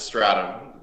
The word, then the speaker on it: Stratham: oh yeah just yeah Stratham is stratum uh you're right it